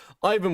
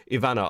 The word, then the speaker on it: Ivana: Ivan with the five. My name is pronounced like letter E then Vanna. No, Ivan, please. Sorry. I Iana. Ivana.